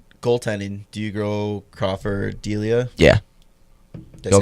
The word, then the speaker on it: Delia: Do you go Crawford, Delia? Yeah. Did I Go say it right this Crawford. time? Yeah. Not Dalia.